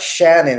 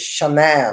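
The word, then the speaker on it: Shanann: it's a weird name it's not Shannon it's shanan or something shanan shanan Watts you know with all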